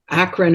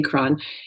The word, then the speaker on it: Akron: know how to pronounce Akron Ohio some people say Acron it's Akron Ohio where I grew up